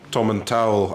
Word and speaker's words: Tomintoul: I always say, picture Tom Jones coming out the shower. Tomintoul. That's the way to remember it.